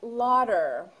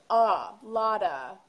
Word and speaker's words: a lot of: yo soy is asking is it pronounced like Lauder there's no R sound in it it's a lotta a lotta a lot